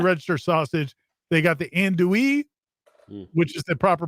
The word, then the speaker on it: andouille: you want your registered sausage they got the andouille which is the proper pronunciation right somebody mentioned that Timmy said they